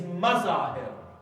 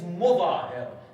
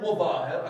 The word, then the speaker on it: Muthahir: the name of the father of HABIB is Mazahir. There is no evidence for that. Yes, it is Mudahir. The correct pronunciation of his name is HABIB ibn Mutahir, according to the majority of our scholars and historians.